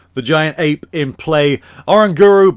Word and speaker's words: Oranguru: giant ape in play oranguru because that is how you pronounce it is gonna then be